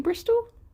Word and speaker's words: Bristol: Yeah, it's like that with like Bristol was originally spelt with a W on the end. Because it was like Bristow. And I guess so many people just said it Bristol that it just became Bristol.